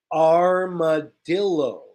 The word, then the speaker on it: armadillo: not say this correctly we pronounce it the English way so this is pronounced armadillo armadillo of course it's